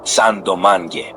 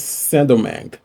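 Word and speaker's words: Saint-Domingue: By the 1600s, the French took over and created a colony called Santo Domingue. It became France's richest colony, relying heavily on... Wait, it's not San Domingue, it's Saint Domingue.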